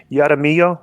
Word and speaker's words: Jaramillo: interesting from ray adam jaramillo ger how would you pronounce this j-a-r-a-m-i-l-l-o yada miyo jaramillo jaramillo yeah the subject is